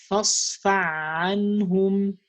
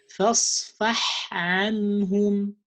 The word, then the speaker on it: فاصفح: You might say fasfa anhum, fasfa anhum, and that also changed the meaning between isfa and isfah. When you say safaha, isfah, forgive them, and when you say safaha, to slap someone. So so it doesn't mean slap them, it means forgive them. فاصفح عنهم. Don't say فاصفع عنهم. فاصفح عنهم. You have to clarify the sound of ha.